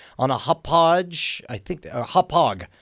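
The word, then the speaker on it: Hauppauge: a hodge I think hophog that's what it is it's hog it's a hard g at the end hog hog win TV dual HD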